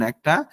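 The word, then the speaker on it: へ: উচ্চারণ করি তাই না তবে যখন এটি বাক্যে পার্টিকেল হিসেবে ব্যবহৃত হয় তখন এটি এ হিসেবে উচ্চারিত হয় যখন কোন বাক্য ইকিমাস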